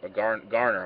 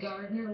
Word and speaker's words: Gardner: Garner, I'm sorry. Is that how you pronounce it, Garner? It's actually Gardner with a D in there, and her last name is hyphenated to be Gardner-Tetso.